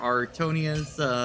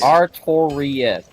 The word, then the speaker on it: Artorias: This door leads to the grave of Sir Artonius, the Abyss Walker.